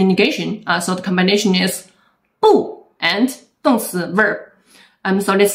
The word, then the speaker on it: 不: video and you may have noticed that I pronounced Po in different tongues in these words and that's